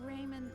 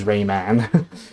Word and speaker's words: Rayman: The official pronunciation is Rayman. Other versions of this game and other other Rayman games. There's that. But yeah, for whatever reason in this game, Lee pronounces as Raymon like policeman or firemen.